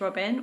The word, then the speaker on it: Robin: bad actually sort of Robin my surname is saves her name is Robin or Robin if you say it properly in French which I just never do but